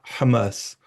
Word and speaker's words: Hamas: Hamas, vous voyez, elle prononce, non, on dit Hamas, ça veut dire l'émancipation. Mais visiblement, Shannon prononce à l'israélienne.